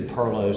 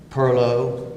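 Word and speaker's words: perloo: soft connection to the Pirlo's of Carolina in Charleston you might hear below Pirlo or perlu or several other pronunciations of the word but I always say Pirlo no matter how it's spelled I mean you don't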